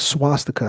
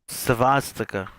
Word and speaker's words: swastika: It's not swastika. How do you pronounce it, brother? Svastika.